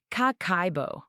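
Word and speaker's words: kakeibo: It's pronounced kako.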